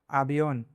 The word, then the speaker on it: avión: When a vowel has a tilde, it should be pronounced with slightly more stress and held a little longer..